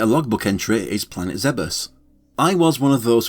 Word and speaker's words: Zebes: Even if I use them for years, I've never had any difficulty dropping the likes of Zebes and Tidus for Zebus and Tidus. Just don't come near me with that Zebes crap. That rhymes with heebie-jeebies, it couldn't possibly be right.